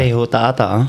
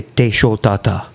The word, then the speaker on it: Teihotaata: And sometimes that's why the H is like pronunciate like the French, like show, you know. Interesting. But the first meaning of H-O is like ho, you know.